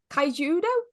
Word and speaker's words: Kaijudo: Joe Renegades, Kaijudo? Is that how you... Yes, Is that what pronouncing it correctly.